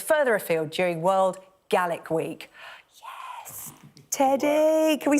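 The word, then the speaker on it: Gaelic: fancy giving GIC ago yes I said it right I've been saying galic all show it's GIC yes offending all my Scottish viewers I'm so sorry this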